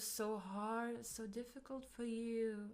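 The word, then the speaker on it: や: Oh, it was so hard, so difficult for you, right?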